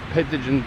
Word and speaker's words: Petitenget: As you walk past Luciolo, you'll come to Petitenget Beach.